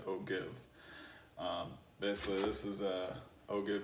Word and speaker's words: ogive: The right way to pronounce it is Ogive, but it's written Ogive, so I will always say Ogive.